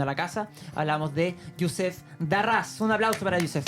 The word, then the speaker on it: Yousef: Youssef es filósofo de la Universidad de Girona. ¿Lo dije bien? ¿Lo pronuncié bien?